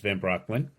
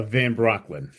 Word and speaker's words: Van Brocklin: Uh, my last name is like Kazinski. Hard to pronounce. It's Van Brocklin. Yeah. Um, say it again. So, uh, Van Brocklin.